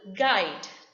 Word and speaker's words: guide: is silent letter u the rule says the letter u is not pronounced when it comes after the letter g and before a vowel in the word for example guide here u comes after g and u comes before the vowel i so it is not